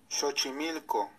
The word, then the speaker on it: Xochimilco: Here's the pronunciation. Xochimilco.